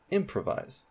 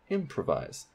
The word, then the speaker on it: improvise: put primary stress there improvise improvise improvise the main stress is at the beginning of the word for M on that syllable improvise we might be saying